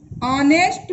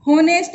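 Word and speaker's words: honest: तो यहाँ पर ये कॉन्सोनेंट से स्टार्ट हो रही है लेकिन उच्चारण वोवल्स का हुआ है, इसलिए इसके आगे आर्टिकल एन लगेगा।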